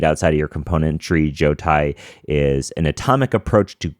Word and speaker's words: Jotai: Yeah, Jotai. Jotai.